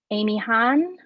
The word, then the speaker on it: Amihan: Amihan, Amihan, Amihan? Here, please, more emphasis on the me. And please shape your mouth smaller to create an sound.